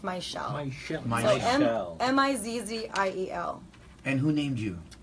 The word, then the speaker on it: Mizziel: It's spelled kind of, it looks like Mizziel, but it's pronounced Mizziel.